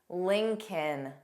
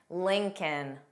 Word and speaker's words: Lincoln: egg, yolk, salmon, salmon, Lincoln, kin, kin, Lincoln. So of course, the first L is pronounced. The second L is silent. Lincoln.